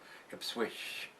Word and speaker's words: Ipswich: if swish if swish IPS wi i c h no T in there so it's not switch I don't think if switch I think it's how it's pronounced I'm not sure anyway